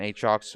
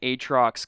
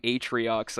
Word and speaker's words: Aatrox: I know you caught me on that because I was calling him Atriox, I think.